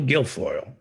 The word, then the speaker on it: Guilfoyle: According to Michael Bender's book, Kimberly Guilfoyle, or I don't know, how do you pronounce Kimberly Gargoyle, Guilfoyle? Kimberly Guilfoyle.